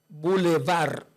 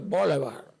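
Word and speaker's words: bulevar: Y también la Ah, esta sí es muy buena la palabra boulevar. Boulevar. Así mismito como suena, como si fuera el bebo elevar. No digo boulevard.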